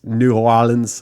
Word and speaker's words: New Orleans: Lions Jans, rated 5 stars, said that her only complaint was the ridiculous pronunciations of New Orleans in the Axe episode. It's New Orleans.